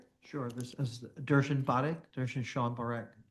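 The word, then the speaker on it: Darshan Parekh: Could you uh state your name and spell it for the record? Sure. This is Durian Bad. Durian Shan Barak.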